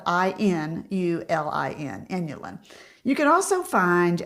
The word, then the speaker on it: inulin: going to see on the ingredient label inulin it's spelled i n u l i n inulin you can also find Prebiotic fiber such